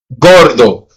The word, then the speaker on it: gordo: After the letter G, then it's going to sound like how we pronounce it in English. Get go gigantic. That's a hard G.